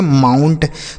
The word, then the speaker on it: mount: उसके बाद MOUNT, इसे हम पढ़ेंगे माउंट। तो ओ के बाद अगर यू रहे बच्चों तो आऊ का उच्चारण, ओ के बाद आई रहे तो ऑय